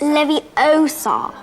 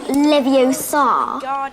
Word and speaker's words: Leviosa: Besides, you're saying it wrong. It's Leviosa, not Leviosa. You do it then if you're so clever.